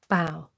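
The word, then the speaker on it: boughs: you pronounce that word Bo ug HS as in take a bow ah bow Karen Karen says how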